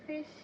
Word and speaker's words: fish: s as sh so instead of saying fish you can say F and stuff you get it okay so